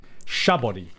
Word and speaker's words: Sabaody: It's Sabaody. I would put this at like a high A tier, low S tier. To me, Sabaody is like leveled up Jaya.